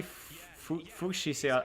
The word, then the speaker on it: fuchsia: Rhododendron, foxglove, hardy, fuchsia. I forgot how you pronounce that. Crabgrass, Japanese maple. This is even better of a ball map. Nice defense from Cinnabar there. Pankaki. It's fuchsia.